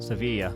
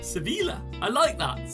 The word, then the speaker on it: Sevilla: we're talking about seville or how would you pronounce it ian sevilla sevilla so i'm a mixture of quiz questions